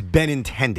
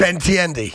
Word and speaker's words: Benintendi: until you get this right his name is ben intended ben tiendy ben intended his first name was andrew andrew